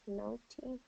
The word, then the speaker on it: naughty: And so the difference between the pronunciation of what you were saying and what native speakers will say is that vowel. Instead of no, it's going to be na, na.